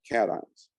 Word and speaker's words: cation: positively charged ion we call that a cation that's how you pronounce this word catons when you gain electrons you end up having more negative charge than you have positive charge.